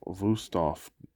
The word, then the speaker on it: Wüsthof: It's a 4-inch paring knife of Wüsthof, Germany, I think. The W's are pronounced with like a V if it's a German word.